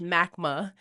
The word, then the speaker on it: MACMH: So Yes, that's our acronym, and MACMH, MACMA. If it doesn't seem like that's the way you should pronounce it, but Yeah. we call it MACMA.